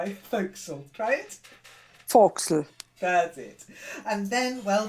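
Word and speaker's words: fo'c'sle: sense that's why I think so try it foxel that's it and then well then you get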